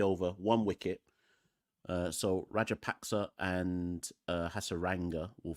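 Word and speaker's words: Rajapaksa: how to say it it's rajer PAC rer rajer paxa uh through the covers is there a Fielder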